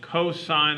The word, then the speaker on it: cosine: really important trig function it's written cos but it's pronounced cosine of theta maybe here all right